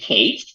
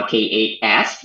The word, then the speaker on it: K8s: They just drop it, and we can pronounce it Kate or Kate. So that just make it easier, so everyone can pronounce it Kate or K8S, much easier than in Kubernetes.